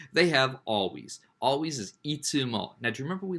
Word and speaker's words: いつ: Always is itsumo. Now, do you remember we learned how to say it? Mario says when? Mario says, itsu time to go. When is it time to go, Mario? Itsu now, a time to go.